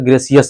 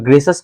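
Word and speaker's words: gracious: ग्रेस क्या बोलेंगे ग्रस बहुत बच्चे प्रोनाउंस ग्रेसियस कर देगा सी ग्रेसियस लेकिन वो गाइ हो जाए गलत ग्रेस बोलेंगे इसको और ग्रेश अस का मतलब क्या होता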